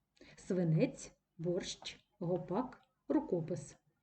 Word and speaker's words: гопак: Справа в тому що в цьому слові гопак наголос буде падати на закінчення А якщо наголос падає